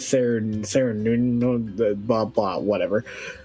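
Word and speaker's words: Cernunnos: I have been saying that name wrong the entire time because I've been saying Sarah instead of Sarah Nuno, blah blah whatever.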